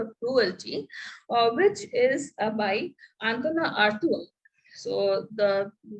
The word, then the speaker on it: Antonin Artaud: Theatre of Cruelty, which is by Antona Artua. So the name is written as Antonin Artaud, but it is pronounced as Antona Artua in French.